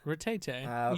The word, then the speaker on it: Rattata: Rattata. You told me that was the correct Pronunciation.